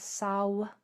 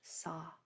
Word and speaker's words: saw: Some people pronounce it, some people pronounce it as Saul, but there's no L in it, like I saw something. And it's not saw, it's just saw with your jaw dropped. So AW just says ah.